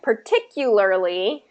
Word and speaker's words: particularly: okay okay all right particularly particularly is going to have that invisible Y in there partic particularly go ahead